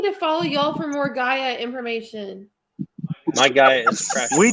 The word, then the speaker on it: Gaia: i'll tell you all about that it's called gaia yeah okay well you know the pronunciations uh like laquinta or la quinta so